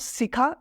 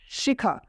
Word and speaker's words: Shikha: Like Shikha is written, not Sikha, it's Shikha. Next one is Saroj, Sa.